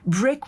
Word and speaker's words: BRCK: Juliana carried this vision forward by designing Brick, which is spelled BRCK, a rugged, portable Wi-Fi